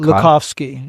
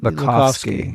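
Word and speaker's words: Lakhovsky: Lac Lakovski. Lakovski.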